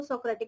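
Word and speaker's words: Socrates: ठीक है, तो इसलिए इसको सोक्रेटिक मेथड कहेंगे. हिंदी में इसको इनको सुकरात भी कह सकते हैं. ठीक है, और वैसे सोक्रेट भी कह सकते हैं, that is different pronunciation in English and Hindi.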